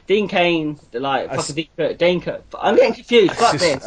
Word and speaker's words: Dane Cook: Lee, have you heard of Dean Cook? Dane Cook. Dane Cook, yeah. Oh, Dane Cook. Dane Cook, yeah. Oh, fucking. Oh, there you go. Fucking pronounced it. Like, I pronounced it wrong 3 times.